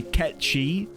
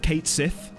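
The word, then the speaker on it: Cait Sith: people can be sticklers for the way you pronounce things, which is the reason I was making sure to say Ketchi instead of Kate Sith, because the entire FF7 playthrough I'd say Kate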